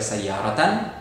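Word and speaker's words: سيارةً: Fathah biasa kalau ada alif lamnya, kalau tidak ada alif lamnya fathatain, sayyaratan. Oke, jadi sayyaratan ini di fathatain karena dia menjadi objek.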